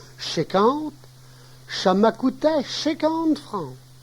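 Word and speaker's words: cinquante: 50 se prononce chéquante, ça m'a coûté 50 francs, cela m'a coûté 50 francs.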